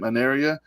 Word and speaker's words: Anaria: That's how she pronounces this band's name, Anaria.